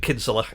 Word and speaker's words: Kinsella: They actually pronounce it Kinsella in Ireland, but for some reason there's an anglicised pronunciation as well.